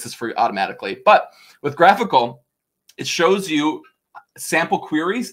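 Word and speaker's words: GraphiQL: it it's something called graphical everyone mispronounces this it's graphical not graphy ql like a graphical unit interface get it y'all um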